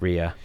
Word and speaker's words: Rhea: Thanks, and that's from Rhea, pronounced like Mia. Don't fuck it up, Greg. And I appreciate that, Rhea.